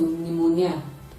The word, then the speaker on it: pneumonia: The same thing is applicable to pneumonia. The P in that word is silent.